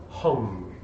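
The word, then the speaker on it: Ham: of this chakra is home it is spelled H AM but it is pronounced like like I hung my jacket okay so basically then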